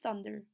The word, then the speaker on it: thunder: La TH, como les dije en clase, se pronuncia como una D. Entonces se dice thunder.